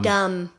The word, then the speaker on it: dumb: Um, dumb. Dumb. You're dumb. You're dumb. So, I guess silent letter in there.